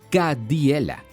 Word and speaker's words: как дела: En ruso, es Kadiela y se escribe así.